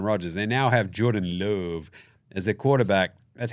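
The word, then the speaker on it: Love: year with Aaron Rodgers they now have Jordan Louvre as their quarterback that's how you say his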